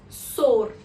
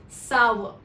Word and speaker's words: sour: It is often pronounced by people as sor or sar. If you pronounce it in either of these ways, then it is incorrect. Rather, the correct pronunciation is sour.